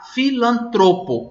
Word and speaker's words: filantropo: Depois nós nós perguntamos na C2, na palavra filantropo, se o timbre era aberto ou fechado. E como eu acabei de pronunciar, filantropo. Então, se você escreveu que o timbre é fechado, você acertou.